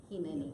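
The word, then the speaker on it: הנני: So, and you'll have to, the pronunciation of Hineni. Hineni, Yeah.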